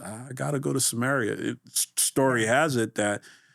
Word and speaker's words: Samaria: You know, they're like, "Are you going to Samarit?" That's right. And you're talking to this woman and he went to her. They're from Samar, right? Samaritan. Samaria. Samaria. I knew I said it wrong. Samaria.